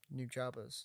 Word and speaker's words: Nujabes: Because he's the one that did New Jabas. that's not no. That's what Google says. Well, Google's dumb. This guy worked with him. American pronunciation is New Jabas.